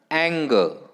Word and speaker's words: anger: Next word बघा, anger. Anger. Ang हा पहिला syllable, ग दुसरा syllable, stress is on the first syllable.